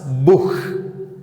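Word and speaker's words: Buch: അക്ഷരങ്ങളുടെ കോമ്പിനേഷനെ നമ്മൾ ഹ എന്ന് ഉച്ചരിക്കും ഉദാഹരണത്തിന് ദാസ് ബുഹ് മഹൻ ദ ബഹ സൂഹൻ അല്ലെങ്കിൽ കൊഹൻ അതും അല്ലെങ്കിൽ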